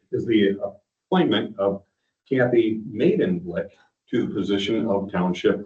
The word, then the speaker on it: Maidenwick: It's Maiden Blick is how it's pronounced.